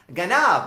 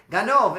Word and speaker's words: ganav: Ganav, right? Ganov is how they say it in the um Romania, the Yanv language.